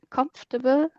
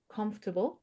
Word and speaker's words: comfortable: Let me just write it down how you have an easier way to pronounce that difficult word, comfortable, because it's not pronounced as you write it.